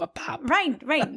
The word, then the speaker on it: Pape: Yeah, Pape, P-A-P-E. Okay. That's how you say it, but in French, that's how you say Pope, a Pape.